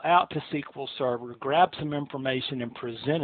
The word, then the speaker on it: SQL Server: You should pronounce this SQL Server, not SQL.